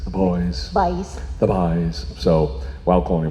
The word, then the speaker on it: Bhoys: they're known as the boys bhois because it's supposed to be it's like as though someone was pronouncing it with like a cork accent the boys the buys so while